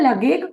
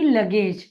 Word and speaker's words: luggage: जी को आप कैसे उच्चारित करेंगे? इसे क्या मैं लगेज कहूंगी? नहीं, मैं इसको उच्चारित करूंगी लगेज। क्यों? जब कभी भी जी इस अक्षर के बाद पी या आई या वाई आता है तो हम उसका उच्चारण ग ना करते हुए ज करते हैं।